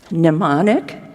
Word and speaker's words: mnemonic: think the word is mnemonic. Is that right? I think it starts with an M, but I think you don't pronounce it.